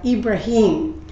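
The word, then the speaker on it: إبراهيم: Muslim friends um uh his name is pronounced in Arabic uh ibraim but it's the same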